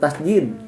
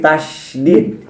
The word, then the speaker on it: tasydid: Jangan tasdid lagi ya. Tapi tasydid. Tasid ya. Tasdid d ya. E menyebutkan istilah juga sudah salah otomatis pengucapannya biasanya suka salah ya.